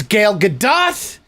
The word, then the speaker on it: Gal Gadot: It's Gal Gadot. There was another name that he mispronounced.